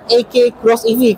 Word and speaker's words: eK X EV: Dibacanya ya AK Cross EV karena kan X itu kan cross kan, seperti itu.